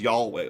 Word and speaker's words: Yahweh: He talked about the origins of the concept of Yahweh, which you pronounce as Yahweh almost with an L.